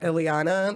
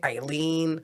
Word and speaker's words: Ileana: I never take it personal when people don't know how to say my name, Ileana. They always say Eileen.